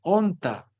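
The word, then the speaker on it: ὄντα: tema como debería ser, onta. ¿Cuál es el acento? El acento también ya es paroxítono, porque ya no lo ponemos en la sílaba final, sino en la sílaba, siempre manteniéndose en la primera sílaba.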